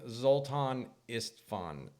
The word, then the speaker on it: Zoltan Istvan: To kick off our new interview series, we have a special guest, transhumanist author, filmmaker, and politician, Zoltan Istvan. Did I pronounce that right?